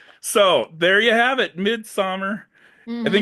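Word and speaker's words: Midsommar: the O is silent. Yeah, Midsummer.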